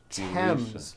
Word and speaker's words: Thames: spelled with a th they are pronounced as if they were spelled with a normal T like that and these words are Thomas Thompson Teresa Thailand Thames like the river Esther